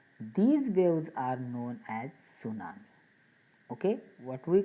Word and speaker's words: tsunami: In that tsunami spelling, T is silent. So to tsunami like this, don't pronounce, it is the tsunami.